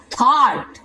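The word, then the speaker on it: thought: थॉट, थॉट, यहाँ पे ये जो यू होता है वो क्या होता है, यूजीए जो होता है वो क्या होता है, यहाँ पे साइलेंट होता है जी।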